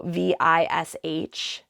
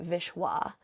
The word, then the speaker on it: Vishva: So Vishva, or we say Vishwa, we pronounce it Deva, Deva.